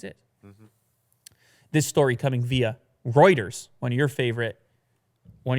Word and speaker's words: Reuters: this story coming via Reuters one of your favorite one of your favorite news sources to pronounce yeah so go ahead it's Reuters Reuters routers routers that's what you said the one time so yeah the world